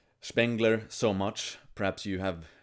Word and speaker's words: Spengler: So anyway, I read Spengler or Spengler to pronounce it in German.